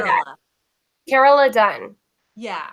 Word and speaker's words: Carola: Carola Dunn. Yeah. It's like Carol with an A on the end.